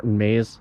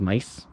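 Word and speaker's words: Maes: brand new bike, Martin Mays. Well, I think it's Mice in Belgium. His last name is actually pronounced Mice.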